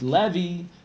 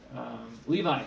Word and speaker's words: Levi: Here comes Levy. That's not the way he pronounces his name. I'm going to turn this question off because we haven't really talked about it. Levi, I managed to figure